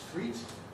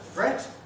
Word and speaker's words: fret: You might think it was threat or freight instead of fret, and you might think it was meat.